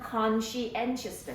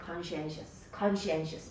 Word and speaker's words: conscientious: 요거 발음은 conscientious다. 그지? conscientious. 발음이 조금 바뀌어. conscience고 conscientious고. conscientious.